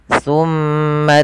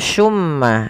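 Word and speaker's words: ثُمَّ: sini ada huruf tsa teman-teman hati-hati di dalam melafalkan tu jangan sampai kita membacanya dengan Sin dengan pakai su gitu ya pakai tmma karena kalau kita merubah dan menggantinya maka maknanya berubah hati-hati juga jangan sampai terdengar dengan baca Summa Summa dengan syin ya Akan tetapi itu adalah huruf t Bagaimana pelafalan huruf t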